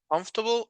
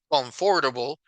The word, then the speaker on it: comfortable: my jeans as comfortable that's how I pronounce this word comfortable I know that is the word is written comforable but in reality if you hear people saying this word they don't say comfortable when they speak fast they say comfortable